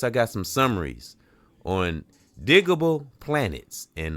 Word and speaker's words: Digable Planets: I used to say digital planets. It's digable planets and uh that's what's on the banner andor thumbnail.